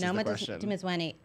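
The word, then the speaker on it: Noma Dumezweni: Noma Dimizweni.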